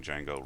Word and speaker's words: Django: from D Jango and I'm sorry if some people think I'm pronouncing Django wrong I think it's my accent it's D Jango but sometimes it sort of sounds weird because I have a strange accent so HTTP response and